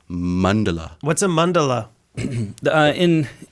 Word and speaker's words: mandala: are these it's not even that Andy it's mundela what's a Mandela uh in in uh Buddhism